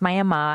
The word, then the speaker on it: Miami: May and it's spelled like Miami Florida but pronounced May and I'm from that town it's about 11,000